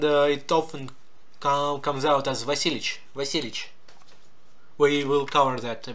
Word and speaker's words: Vasilievich: Ivan Vasilievich Braginsky. Vasilievich. But with these long words, we actually drop the Y and V, Yev, we drop that part, and it often comes out as Vasilievich.